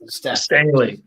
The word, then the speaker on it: Stehle: Stehle. Okay. There have been too many mispronunciations.